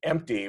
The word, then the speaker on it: empty: But apparently, for my whole life, said empty with an F in it.